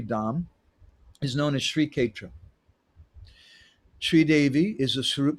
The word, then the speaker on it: Kshetra: that Sri Kshetra, and this is how they pronounce it here, they say Kshetra. In Vrindavan they'll say Kshetra, but we say Kshetra here.